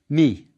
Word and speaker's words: mi: This hieroglyph was pronounced mi, like M-I, and was itself, by itself, it means the word like or as, in the sense of a comparison.